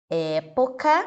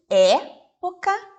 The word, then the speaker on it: época: palavra prêmio pronuncie comigo época o prêmio nós pronunciamos essas duas palavras da mesma forma e não a palavra época tenho são representado pelo e aberto então nós falamos é pouca e em prêmio ela